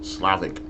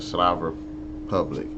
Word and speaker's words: Slav Republic: I kept wanting to say Slavic, but it's, yeah, the Slav Republic.